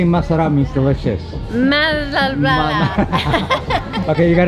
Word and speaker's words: masarap: Masarap ba yung sexy barata? Yes, one of our best sellers. Oh, can you say masarap means delicious?